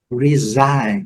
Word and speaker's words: resign: Rain, muito simples, sem comentários também, lembrando, a letra G silenciosa, o N com som dele, rain. Resign, o presidente renunciou, então ele resign, resign. Bem simples também, não esquecer de colocar o U aqui para fazer o biquinho, né?